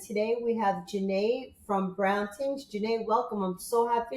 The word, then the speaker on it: Brown Tings: I was going to say Brown Things, but it's Brown Tings, correct? Well, first off, thank you so much for pronouncing it correctly because it is Ting. So I don't know how much you know about the islands, but in the islands they kind of drop off the H, and instead of saying Bing, they say Ting.